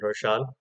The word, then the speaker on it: Roshaan: I used to pronounce them Hassan and Roshan, but if I'm not mistaken, the duo is called Hassan and Roshan.